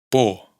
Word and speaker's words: por: Por otro lado, esta omisión de la R afecta especialmente a las palabras monosílabas y las agudas, es decir, las que tienen el acento en la última sílaba.